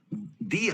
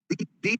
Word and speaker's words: the: दी आर्ट, दी आर्ट बोलना है, द आर्ट नहीं बोलना है।